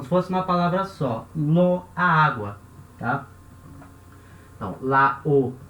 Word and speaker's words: l'eau: O A vai cair, certo? E là-haut, na verdade, a gente vai escrever e falar l'eau. L'eau, como se fosse uma palavra só. L'eau, a água, tá?